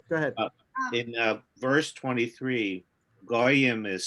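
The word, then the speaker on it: גוים: So in the Torah, it's spelled Gimel Yud Yud Mem, no vowels. That's how it looks in the Torah. But we're supposed to read it as Goyim, Gimel Vav Yud Mem, with the vowels.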